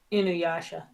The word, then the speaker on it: Inuyasha: How do I pronounce that shit? Inuyasha.